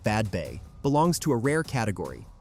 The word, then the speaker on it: Badbea: Badbea, pronounced Badbay, belongs to a rare category, a settlement created by clearance rather than destroyed by it.